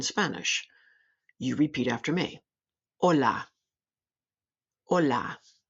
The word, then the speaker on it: hola: Hola, hola.